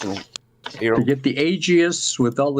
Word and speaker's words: Aegis: Right, can I move on to the Aegis? Am I pronouncing this right? Aegis. Aegis, yes. Yeah. Okay. I didn't know if there was a silent something. Silent A, looks like.